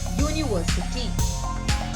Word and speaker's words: university: university this word begins with the vowel letter u but the sound that comes from the word is yo university next one one begins